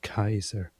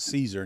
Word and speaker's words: Caesar: to point out that the accurate pronunciation back then for the Romans was Kaiser which is very close to the German word Kaiser which is directly adopted. So Caesar was actually pronounced Kaiser.